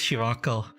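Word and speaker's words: Scirocco: This guy, Papepimus Shiraco from Zeta Gundam. His name is spelled differently, but it's pronounced Shiraco with a K sound after the raw.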